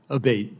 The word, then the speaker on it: Abbate: to happen again yes ma'am ever uh Mr Abate and am I saying your name properly we've heard it pronounced three different ways today in the hearing aate Senator aate okay thank you um you had